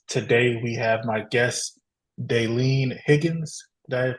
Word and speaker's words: Dalene: bright brains podcast today we have my guest denen Higgins did I pronounce that right you did you did all